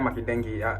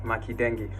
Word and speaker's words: Makendenge: Now uh her name is Maria Makeni not Maria Maken like I pronounced I pronounced the last time it's not maden it's Makeni.